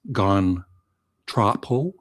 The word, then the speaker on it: Gone Tropo: It's Gone Tropo.